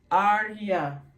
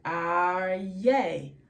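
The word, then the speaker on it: אריה: So we're going to say, instead of arya, bat, arya, we're going to say as in bat, aryay.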